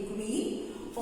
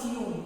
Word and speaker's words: queen: क्वीन इज the pronunciation, not क्यून. ये मैंने बहुत नोटिस किया है that some children they pronounce queen as क्यून, which is wrong. Even some elder also, कुछ बड़े लोग भी क्वीन को क्यून बोलते हैं, which is wrong. क्वीन नॉट क्यून.